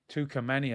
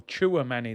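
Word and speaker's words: Tchouaméni: Tukameni as well, yeah. Or Chouameni, they were telling me. I said his name wrong.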